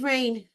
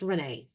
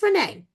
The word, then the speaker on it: Rayne: Chidi and Rayne, Chidi and Renee. I keep calling her Rayne because her name is spelled Rayne, but it's pronounced Renee.